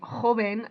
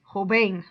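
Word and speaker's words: joven: to say them wrong lunes not lunas and hoben not hoban rule number two if the word ends in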